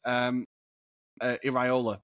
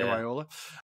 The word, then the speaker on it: Iraola: Also, a manager that I'm super excited about, I think you quickly mentioned him, is Iraola. I need to say it properly. Yeah. Iraola at Bournemouth.